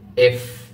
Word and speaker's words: F: এফ বলার সময় এই এফ ক্যারেক্টারটি দেখুন, এটা আমি কিভাবে প্রোনাউন্সিয়েশন করছি বা উচ্চারণ করছি। এফ, এই দাঁত দেখুন, সামনের উপরের দাঁত, এই দাঁত এই ঠোঁটের উপরে আনতে হবে। নিচের যে ঠোঁট আছে না, এই ঠোঁটের উপরে এনে এভাবে বলবেন এফ, এফ।